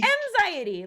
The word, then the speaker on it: Mxiety: Mxiety, like anxiety with Mxiety.